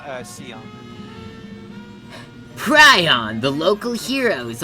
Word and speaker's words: Scion: I know that they spelled it wrong in the English version, but in Japanese it's pronounced Sion.